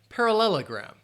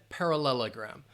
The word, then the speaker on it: parallelogram: all right quadrilateral and parallelogram quadrilateral and parallelogram so parallel uh then you have that schah parallelogram parallelogram five syllables par parallelogram and quadrilateral quadrilateral um wait